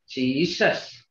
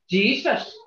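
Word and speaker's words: Cesvs: Hear that tone? See that difference here, guys? It's the same spelling on English and Spanish, but pronounced different. But look at our spelling and see how it's pronounced. There's that tone.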